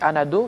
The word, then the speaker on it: Anado: moi mon nom c'est c'est anado c'est en français donc c'est vrai que même si quand je pars hierè comment tu t'appelles je m'appelle un ado ça reste en français donc tu prononces mon nom en français parce que c'est un nom français c'est aussi comme Miss